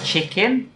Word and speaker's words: chicken: okay Thais will pronounce chicken as chicken yes CH the good old CH sound chicken CH many Thais well mostly all Thais will pronounce as SH I'm not really sure